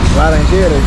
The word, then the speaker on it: Laranjeiras: Laranjeiras.